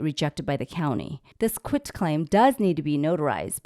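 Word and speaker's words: quitclaim: called getting a quit claim deed not a quick claim everybody always Mis um pronounce that it's quit quit T quit claim deed this form can be provided by the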